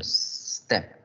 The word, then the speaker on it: step: Ojo, acuérdate que cuando las palabras en inglés inician con S, al pronunciarlas debemos es generar el sonido step, step, step, para que no suene la E, step, no, sino step.